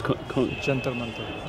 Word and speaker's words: Jantar Mantar: And how do you pronounce the observatory? It's Jantar Mantar.